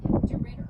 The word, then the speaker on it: DeRidder: DeRidder.